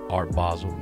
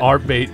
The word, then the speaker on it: Art Basel: Let me hear Art Basel again. Art Basel. Not Art Bait. There we go. You get that. How do you pronounce it correctly? You just did it. Art Basel. There you go. Okay. You got it.